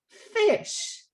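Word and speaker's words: ghoti: word is actually pronounced fish how is that possible well if you look at the last two letters of the word cough that gh make f sound you look at the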